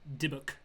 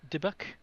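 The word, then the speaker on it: dybbuk: this in a while how do you pronounce d y b b u k dibbuk okay at first I thought that said indigenous debuck ingenious book all right let's try you know I just read it wrong it's very smart Okay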